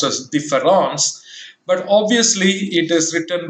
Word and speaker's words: différence: But Derrida, for the first time, introduces a new letter in the spelling of the French word normally pronounced as différence, but obviously it is written with E, D-I-F-F-E-R-E-N-C-E.